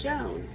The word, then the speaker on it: Joan: Joan is spoken all in one syllable, to rhyme with own.